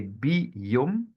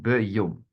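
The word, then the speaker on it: בְּיוֹם: So we would say Bi Yom, it's an in front of a Yod, Bi Yom instead of Be Yom.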